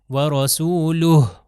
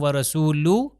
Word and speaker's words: وَرَسُولُهُ: تلفظ اور آخر میں وَرَسُولُهُ ہا کا تلفظ صحیح طریقے سے آنا چاہیے. اگر میں کہوں وَرَسُولُهُ تو اس کا مطلب ہے سنائی نہیں دے رہا.